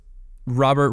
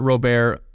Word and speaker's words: Robert: And, it's Robert Robert. I have heard it pronounced both ways. I'm going to say Robert because that's how he pronounced it during the World Baseball Classic. I refuse to believe that it's Luis Robert. So I'm going Luis Robert.